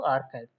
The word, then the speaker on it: arXiv: So I gave an example in my orientation session of archive. Archive is it's spelled ARXIV.